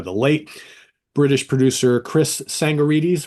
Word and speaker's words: Tsangarides: We're going to talk about the uh, the late British producer Chris Sangorites. Right. The T is silent, right?